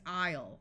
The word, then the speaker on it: isle: aren't quite as important this word is isle with a long ey sound and this is plaid